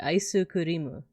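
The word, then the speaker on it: アイスクリーム: So ice cream with like a Japanese accent would be aisu kurimu.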